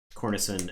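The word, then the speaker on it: Cornicen: Cornicin as in cornet. As a hard C.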